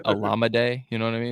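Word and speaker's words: Olamide: I don't know why people can't pronounce his last name. It's very easy. It's Alameda.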